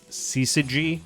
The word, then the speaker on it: syzygy: And they're taken together as kind of a dualistic syzygy, I believe is how you say the term. It's S-Y-Z-Y-G-Y. Syzygy of concepts.